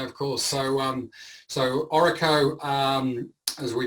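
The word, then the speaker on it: Orreco: association yeah yeah of course so um so oracle um as we pronounce it so it stands it's sort of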